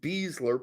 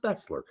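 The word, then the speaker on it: Besler: a Mexican player okay feal was better than beasler by the way we always said Bessler Because by the way b s l r and German is pronounced Bessler not beasler he added that in there probably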